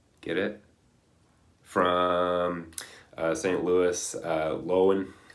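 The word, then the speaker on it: Löwen: it from St Louis lowen it's probably actually how you pronounce his name but uh you know if you want to be correct and speak German Lovin that must be it right anyway um he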